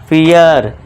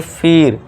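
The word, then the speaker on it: fear: के बाद ये देखिए इ के बाद आर आ गया तो इसे क्या पढ़ेंगे फियर ठीक है दोस्तों फियर ना कि फीर आई होप आपको समझ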